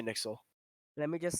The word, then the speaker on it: NYXL: Nixel is a let, Western team.